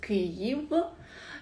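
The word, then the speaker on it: Kyiv: country in the europe the capital is ki evo it's the ukrainian pronunciation creative uh ukraine have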